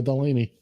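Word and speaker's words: Delany: Not only is she an actress as well, but the TV show The Animaniacs will often use her name to rhyme with the word zany or insaney. Totally insaney. Dana Delaney.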